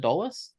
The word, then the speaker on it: Edolus: That's how you pronounce it? Edolus?